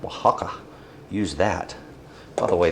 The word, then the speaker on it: Oaxaca: If you want to use a Mexican cheese, like Oaxaca, use that. By the way, that is spelled o a x uh I'll see, o a x a c a, I believe.